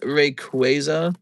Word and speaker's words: Rayquaza: It's pronounced Rayquaza.